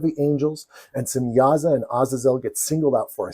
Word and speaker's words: Azazel: recognize from popular culture Azazel or as he's sometimes pronounced a zazil of course God finds